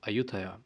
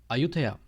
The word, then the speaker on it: Ayutthaya: So what he did was he named his capital city Ayutthaya, which is the Thai pronunciation of Ayodhya.